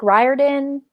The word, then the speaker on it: Riordan: last name rorydon rick right i've heard it's pronounced uh riord rick riordan yeah i don't know all right uh mainly